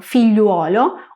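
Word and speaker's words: figliuolo: Es decir, g + l + i + u + o. Por ejemplo, filluolo o filluala. Precisamente como el sonido yu va seguido de una o, lo que ha pasado es que en el largo del tiempo la u ha ido cayendo, dando por consiguiente el sonido yo en el italiano moderno.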